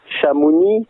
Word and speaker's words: Chamonix: Chamonix, c'est devenu Chamonix avec un X, mais on ne prononce pas le X.